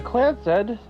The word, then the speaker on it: Clancy: The Clancy, pronounced Clancy Trust, is a highly unusual corporate arrangement